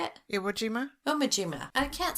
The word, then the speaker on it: Iwo Jima: omojima omojima is that how you say it iwojima omojima i can't say it right say it